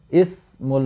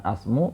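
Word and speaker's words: اسم: ke pasar adalah pasar ismul muhisi Ismu bukan asmu karena di sini kita mengikuti orang Arab berbicara ya mereka meng Mak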